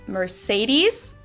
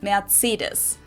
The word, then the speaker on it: Mercedes: So most Americans call this Mercedes. In German, we pronounce it Mercedes.